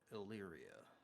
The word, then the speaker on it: Illyria: my pronunciation uh Elyria Hilaria how do you spell it i l l y r i a Illyria I'll go with Illyria up